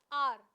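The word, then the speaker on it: hour: आर, अब आर की अगर बात की जाए, आर, आर भले ही एच ओ यू आर है, लेकिन इसको साउंड, इसमें साउंड किसकी आती है? इसमें एच साइलेंट है. एच क्या है? साइलेंट है यहाँ पर.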